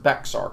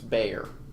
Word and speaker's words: Bexar: look at bayer county it's not pronounced bexar county it's bayer i'm not shocked by